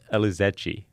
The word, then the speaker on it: Elizetxe: wants to know you your last name was elizachie okay awesome it's it's spelled mysteriously there's an x in there and t in this disease but